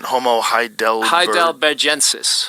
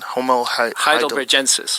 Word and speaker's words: Homo heidelbergensis: Homo Heidelbergensis.